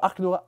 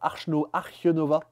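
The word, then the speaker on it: Arche Nova: Pour Archenova. Archenova. Archenova. On dirait les inserts achetés sur Wish. Ouais. Mais non, mais en allemand, c'est comme ça que ça se prononce.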